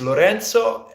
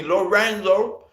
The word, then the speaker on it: Lorenzo: My name is Lorenzo, and they call me Lorendo, or Rorenzo, or there are so many ways people have been calling me, but who cares?